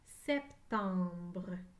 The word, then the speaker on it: septembre: non d'un 70 brute la lettre b et la lettre r sont collés ensemble septembre et la lettre e à la fin est muette septembre écrivez le mot septembre